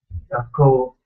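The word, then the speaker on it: 学校: Gakko. Gakko. It's like ga space ko. It's a long O sound.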